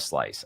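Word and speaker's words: Slyce: and you can literally buy a slice it's called s-l-y-c-e that's how it's spelled um but you can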